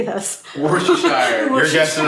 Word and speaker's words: Worcestershire: Worcestershire. You're guessing Worcestershire.